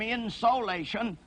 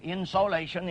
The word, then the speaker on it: insolation: I pronounce that insulation to distinguish it from insolation, a point I made once before on a program, insolation, incoming solar radiation.